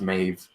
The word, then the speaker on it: Maeve: ended up correcting me that's not pronounced in my Abbot's pronounced mave mmm really and I did